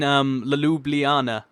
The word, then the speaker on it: Ljubljana: Like as in Ljubljana. Did I get that? Yeah, that's how you pronounce it.